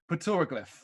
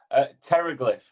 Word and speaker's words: Pteroglyph: hopefully say this correctly peter glyph terror glyph terror close enough it's pretty close pretty much what everybody says silent pain that makes silent p pretentious p i love it